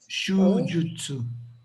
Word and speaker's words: shujutsu: Is it a long U or is it a short U? Andre or Jock? Two long U's. Both are short. Shujutsu.